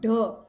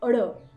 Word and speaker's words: ढ़: Children, while pronouncing vyanjan ada, we need to be careful how to pronounce it. It is not da, but it is ada.